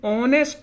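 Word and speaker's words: honest: जैसे एन ऑनेस्ट मैन, ये होनेस्ट नहीं है, ऑनेस्ट मैन, एन ऑनेस्ट मैन, एक ईमानदार व्यक्ति।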